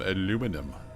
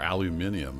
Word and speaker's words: aluminium: right we got some aluminum or aluminium if you're on the other side of the pond either spelling and pronunciation is correct should probably go and